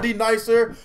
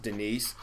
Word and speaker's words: Denise: Somebody, is there a D nicer? A D nice. It's pronounced Denise.